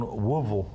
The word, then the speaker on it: Louisville: They're taking on Woolville. I learned that's how you pronounce it.